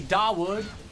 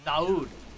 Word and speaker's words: Dawood: When I was restreaming the Takra Cup tournament, people were like, yo, you don't say Dawood. W is silent. It's Dawood.